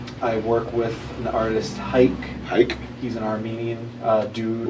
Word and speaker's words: Hayk: And it's pronounced hike, like take a hike.